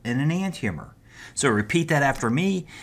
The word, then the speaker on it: enantiomer: One of those types is called an enantiomer. So repeat that after me. Enantiomer, enantiomer.